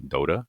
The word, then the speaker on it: Dota: Dota is this. Am I saying it right? Dada.